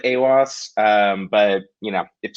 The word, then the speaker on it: Aiwass: you did it was i had been saying it as iwas for like five months now so it's one of those things that i don't i don't even know how you're actually supposed to pronounce it so i i go with awos um but you know